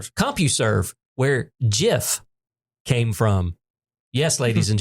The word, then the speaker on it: GIF: CompuServe where GIF came from. Yes. Ladies and gentlemen, it is pronounced with a soft G.